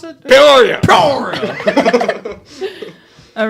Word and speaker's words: Peoria: from the- How do you pronounce it? Peoria.